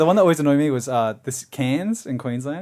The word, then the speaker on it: Cairns: But the one that always annoyed me was this Cairns in Queensland, because it's spelled Cairns. Cairns, and then it's like no, it's Cairns. Like they just omit like 2 letters.